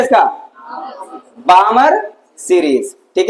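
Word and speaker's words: Balmer: वो क्या दिया गया बामर बी ए एल एम ई आर बामर series क्या नाम दिया गया बामर सीरीज ठीक है एल यहां बाहु साइलेंट रहता है ठीक है क्या नाम है इसका बामर सीरीज ठीक है जो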